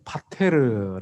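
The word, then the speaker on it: πατήρ: 하나님의 거룩한 이름만 아버지입니다 아버지 헬라 어느 파 테르 라고 발음 하는데요 성경에 보니까 400 10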